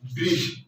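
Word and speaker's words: bridge: ब्रिज, ब्री, ब्री। इसलिए क्या है? डी जो है जी से पहले आया है, जी से पहले आया है, तो ये हो जाएगा डी क्या हो जाएगा? साइलेंट हो जाएगा।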